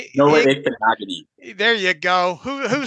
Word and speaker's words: Igbinoghene: Noah pronounce his name. Noah Igbinoghene.